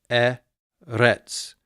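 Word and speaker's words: אֶרֶץ: So it is eretz. Notice where the accent is, so it's not eretz, it's eretz, eretz. And you will hear sometimes I pronounce that with a little trill.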